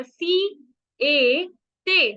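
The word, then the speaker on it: siete: स के ऊपर ई की मात्रा, सी, ए, ते, सी, ए, ते।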